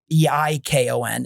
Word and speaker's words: Eikon: And where it's spelled IKON, but all we did was actually drop the E, because EIKON is the Greek word for image.